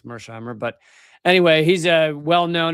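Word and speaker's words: Mearsheimer: And here is from John Mshimer. Uh, or is it pronounced Mirshimer? I think it's Mhimer.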